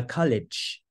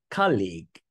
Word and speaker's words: college: listening section called a college lecture College not colleague the different pronunciation leads to a different word normally when you